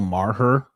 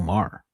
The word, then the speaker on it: Maher: I I if I hear someone say Bill Marer, unless this how this he just thinks that's how it's pronounced. I don't know. It's very odd. Very odd. Because you know Bill Maher. Like how would you not know Bill Maher? It's Bill Maher.